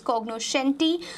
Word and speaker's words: cognoscenti: on to the next word of the day cognoscenti cognoscenti be benjamin Pharisee pronounced curiosity but most acceptable is cognoscenti completion tika are thought i akunis here it